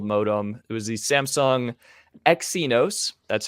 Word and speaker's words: Exynos: from a one-year-old modem it was the samsung exynos that's how you pronounce that apparently thank you for everyone who